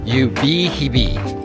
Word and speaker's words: Ubehebe: I just pulled into the parking lot and holy So apparently it's pronounced Yubhibi.